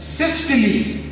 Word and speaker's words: systole: two main events number one consistently it is pronounced as systole and by Sting in Sicily says there is